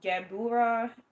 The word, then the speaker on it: Gevurah: So gra or gabura it can be pronounced with a b or a v.